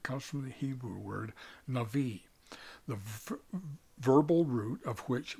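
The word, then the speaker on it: נביא: a misspelling it's just in the Hebrew this particular way the B is pronounced as a v so it's Nai defined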